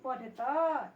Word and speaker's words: पठत: यूयम पठता, यहाँ क्या बोलेंगे? पठता। क्यों तो बोलेंगे? अ का उच्चारण क्यों करेंगे? क्योंकि यहाँ कोई हलंत नहीं है, इसलिए हम इसको बोलेंगे यूयम पठता।